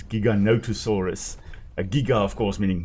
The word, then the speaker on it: Giganotosaurus: Very often it is pronounced as Gigan mispronounced as Gigantosaurus which isn't a species. It's Giganotosaurus.